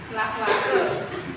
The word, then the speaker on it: Lavoisier: Bacanya, tulisannya Lavoisier, ya, tapi bacanya gimana? Lavoisier.